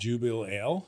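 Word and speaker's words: Jubelale: How do you spell it? Jubeale. What is that? Jubil Ale? Yeah, but they have it all. Jubilela? Did you? I said you made it all one Jubileela, word?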